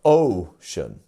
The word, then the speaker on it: ocean: So ocean has 2 syllables. Our first syllable is our stressed one. So ocean. Instead of ocean, ocean. So we have the O sound, O. Make sure that your lips are going from out to in. O. Making sure you're getting that. And then the shun.